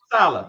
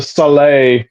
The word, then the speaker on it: Saleh: It's actually pronounced Saleh, according actually.